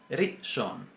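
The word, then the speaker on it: ראשון: Rishon. Si decimos rishon, está mal. Según la pronunciación semítica, no está bien.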